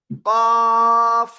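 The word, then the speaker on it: قاف: এই অক্ষরটার নাম কি বলেন? কব। কফ, মোটা আওয়াজে 4 লিপ টানে উচ্চারণ করতে হয়, ঠিক আছে?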